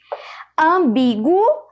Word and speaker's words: ambíguo: Ambíguo, veja o som do U também. Portanto, não há dígrafos.